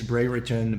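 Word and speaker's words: Brereton: up for my Dan Bray written uh books and yes his last name is Bray written b-r-e-r-e-t-o-n so I'm saying it right even though it sounds weird Legion 26.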